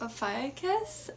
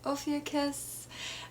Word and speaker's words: Ophiuchus: because it is within, I like to pronounce it Ophiuchus. I know others pronounce it Ophiuchus. And honestly, the ancient Greeks probably pronounced it something incredibly different.